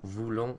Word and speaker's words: voulons: Nous and vous are pronounced voulons, voulez, because they're spelled with an OU, but then with il,